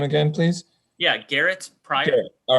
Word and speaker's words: Garet Prior: really great information can you tell me your pronunciation of your name again please yeah garrett's pride all right sorry i didn't want to jack